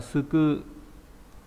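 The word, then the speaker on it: 救: Ghép bởi bộ cầu này và bộ phộc là đánh đập thì cứu đọc là suku.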